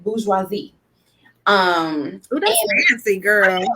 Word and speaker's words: bourgeoisie: Now, listen, I don't speak French, so I'm going to pronounce it wrong because it comes from a French word. But the French word, I believe you pronounce it bourgeoisie.